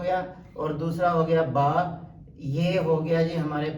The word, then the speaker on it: با: کی زبانوں کے اندر، جبکہ عربی کے اندر جو ہے وہ با کیا جاتا ہے۔ اور اس کے اندر